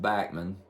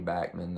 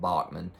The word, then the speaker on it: Bachman: Canada's backman Turner overdrive and yes it is pronounced backman and uh I heard this uh from uh an interview I heard with Randy backman uh a while back and he uh he